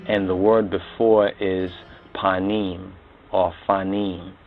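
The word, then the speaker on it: פנים: And now here's what's very interesting about this word panim or fanim. In the Hebrew they pronounce it panim.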